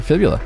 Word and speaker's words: Fibula: Fibula, like the leg Like a bone.